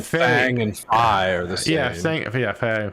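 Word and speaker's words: Fai: they saying Fang and Fi are the same? Yeah, Fang and Fang. Fi. No, it's Faye, isn't it? I'm pretty sure it's Faye. Drum F-A-I. Yeah, Fi. It is Fi.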